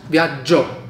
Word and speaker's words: viaggio: Like 10 G's, viaggio.